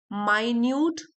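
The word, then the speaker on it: minute: माइन्यूट observations, माइन्यूट ये मिनट की भी स्पेलिंग यही होती है, माइन्यूट की भी यही है यहाँ पे, लेकिन माइन्यूट जो है वो ये एडजेक्टिव है।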